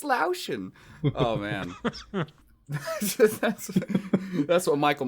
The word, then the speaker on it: Laotian: what did you say lowson I don't know how to pronounce it Laotian laoshin okay okay lauschen like lotion but with an owl got it like putting lotion on your owie it's Laotian oh man that's what